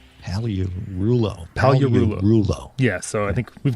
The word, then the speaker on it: Pagliarulo: He was nice enough to spell it phonetically for us. Yes, it's actually Frederick Pagliarulo. Pagliarulo.